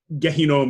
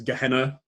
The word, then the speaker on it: Gehinnom: Gehinnom is how you say it in Hebrew. It often gets sort of Englishized as Gehenna.